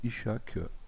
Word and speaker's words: Ishak: tout simplement parce que le mot Isak qui veut dire Anne donc en russe et le mot i 16 se prononce à peu près de la même manière donc il s'agit d'un